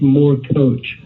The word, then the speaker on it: Morkoc: let me tell you but it's pronounced it's pronounced more coach was generous i appreciate it you know you